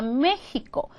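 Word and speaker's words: México: 막 웃으시는데 그게 아니라 원래 스페인어로 멕시코를 메히코 이렇게 하는 거예요 그다음에 하스 스 이렇게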